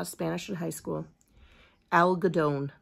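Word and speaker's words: algodón: Spanish in high school Al gadon that's how you say it in Spanish cotton is that a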